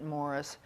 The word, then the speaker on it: Maurice: of which UN agenda Maurice he pronounces it Morris strong was director President